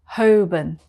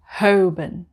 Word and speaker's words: Holborn: in london number seven malibun malibun number eight hoban hoban i always just get this wrong it's hoben number nine slow slow it's a bit like